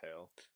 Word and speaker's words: Hale: Like the person that replaced her was Jennifer Hall or Hale. I don't know how to pronounce it. I believe it's Hale.